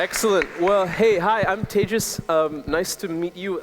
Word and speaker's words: Tejas: um Andre's everybody excellent well hey hi I'm tagis um nice to meet you I I often introduce myself by saying I'm tagis that's pronounced like cont and like n out